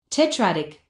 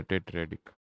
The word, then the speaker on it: tetradic: I have to check this. tetradic Yeah, tetradic. And so forth.